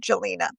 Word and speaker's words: Gjelina: So, um, Jay, Jelina or Jelina, they said they pronounced it Gelina.